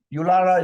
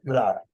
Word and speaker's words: Yulara: And And so you're pronouncing Uluru, Ulu? Uluru. Uluru. Yulara is the name of the town, but Uluru is the Aboriginal word for it, Uluru.